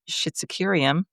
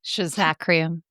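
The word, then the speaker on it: Schizachyrium: Schizocurium or Shizacrium. Schizacrium or Well, I mean, I've heard it both both ways. ways, yeah, the way it's spelled, it looks like Schizocurium to me, but I used to say Schizacrium.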